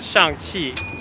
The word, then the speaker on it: Shang-Chi: Can you help me pronounce this? So that's Shang Chi.